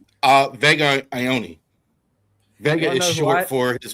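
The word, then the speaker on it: Vega Ioane: Uh Vega Ioni.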